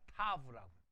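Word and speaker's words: תָּו: 맨 마지막 단어 타우가 아니라 타브라고. 왜냐하면 이 W를 아까 위에 바브라고 했지 와우라고 안 했잖아요. 그러니까 맨 마지막이 타우가 아니라 타브라고 발음해요. 타브. 그건 고치시죠. 타우가 아니라 타브라고 발음합니다. 타브.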